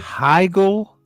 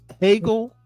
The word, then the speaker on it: Hegel: Hegel. Giggle, Hegel. It's not Hegel is how I pronounce it. It's Hegel. Hegel. No, it's Hegel to this motherfucker, like Eric Booby.